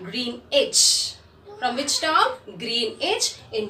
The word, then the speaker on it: Greenwich: Here children, W is silent. It is Greenwich.